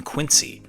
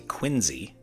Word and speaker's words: Quincy: Louis and I had the chance to visit John Adams’ home, known as Peacefield, in Quincy, or as the locals say, Quinzy, Massachusetts.